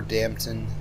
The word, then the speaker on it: Dampton: Okay, we're in Upper Dampton, which rhymes with Brampton.